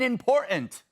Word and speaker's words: important: If only they could pronounce the first T in important.